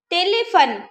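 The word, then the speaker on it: téléphone: Telephone. Telephone. Here we are pronouncing only the letter N, but we are not pronouncing the letter E.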